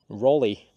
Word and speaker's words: Raleigh: tobacco to the UK, you've pointed out that I should have actually said Sir Walter Raleigh, I believe is how you pronounce it.